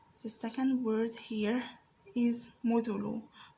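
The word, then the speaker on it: مُثُلُ: Muthulu is pronounced as mim with a dhamma over it. It's pronounced as mu. The second letter in that word is the tha with a dhamma over it is pronounced as thu. The third letter here is lam with a dhamma over it and pronounced as lu. Mu, thu, lu.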